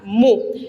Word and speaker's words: mi: con el sonido mi ustedes van a encontrar varias nomenclaturas para esta esta letra inclusive si hablan quizás con estudiantes de matemática que utilizan las letras griegas para los ángulos ya van a decir que esta letra se llama mu y la que sigue No porque yo le llamo mi porque en realidad el